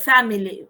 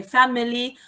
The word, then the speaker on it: family: Remember, I gave you the example of family. You can say family or family. Yes, the 2 pronunciations are correct.